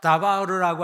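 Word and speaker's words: דבר: 이 히브리어 세 글자가 있는데 저 세 글자 다바르라고 하는 것이 어미가, 저게 자음이거든요. 어미가 어떻게 바뀌냐에 따라서 5가지로 해석이 되는 거예요. 다바르로 읽으면 말씀이고 데베르로 읽으면 전염병이고 미드바르라고 읽으면 광야가 되는 거예요.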